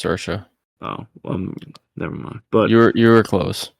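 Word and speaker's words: Saoirse: I believe so damn it's spelled s a o i r s e I'm pretty sure that's pronounced sersa oh um never mind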